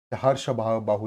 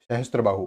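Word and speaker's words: सहस्त्रबाहु: अब यहाँ भी सहस्त्र बाहु में टी नहीं है, हर्ष बाहु लिखा हुआ है कि वो क्या है रियल उसका प्रोनाउंसिएशन? सहस्त्र बाहु।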